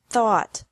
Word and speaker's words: thought: fought seek sought sought teach taught taught think thought thought remember that the G is silent in these verbs verbs with three different